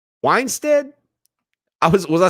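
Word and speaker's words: Wannstedt: y'all help me out weinsted is that how you say it here it is weinstat dave how do you pronounce this guy's name weinstead i was was i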